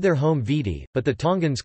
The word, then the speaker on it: Viti: Fiji main island is known as Vidi Levu, and it is from this that the